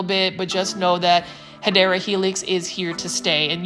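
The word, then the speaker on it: Hedera helix: first started doing plant shopping videos I was mispronouncing it it's supposed to be hadera Helix and for some reason some of my plant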